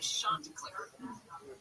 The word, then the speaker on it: Chanticleer: It's pronounced Chanticleer, not Shan.